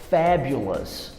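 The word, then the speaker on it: fabulous: O mesmo acontece para enormas e o mesmo acontece para fabulas.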